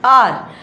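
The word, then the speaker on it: hour: आर ये H silent होता है हमारा। आर बोला जाता है और एच आर आ की साउंड आ रही है तो वोवेल साउंड है।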